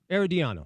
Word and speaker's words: Herediano: And, as you know, RSL, Herediano, however you say it, CONCACAF Champions League, RSL actually starts today. Yeah. Herediano, that's how you say it.